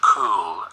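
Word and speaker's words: Cúl: kids camp or the cool uh Camp as it's called Uh because it's a GIC word c l uh but it's pronounced uh like the English word cool as in cool for cats uh so that's on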